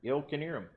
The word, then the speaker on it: Knierim: Knierim. Yeah. Yeah, you don't. Knierim, hardly knew him.